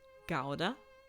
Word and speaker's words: gouda: is probably somebody's dad gouda lets everyone know it's actually pronounced gauda does know the best